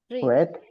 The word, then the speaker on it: read: very good so yes remember that read is an irregular verb so only the pronunciation is different read in present read